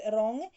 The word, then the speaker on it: wrong: according to this row some letters do not pronounce before if you are the letters for example w before uh right wrong k before n knee no knife g before and no gnome net little children adore riding